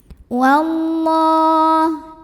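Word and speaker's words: وَاللَّهُ: Wallah. Lam pada lafaz Allah dibunyikan secara tafkhim. Kenapa? Karena huruf sebelumnya barisnya fathah, maka bacanya tebal.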